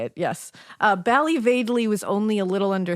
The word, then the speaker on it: Ballyvadlea: Uh, so she was born in Bali Vadley.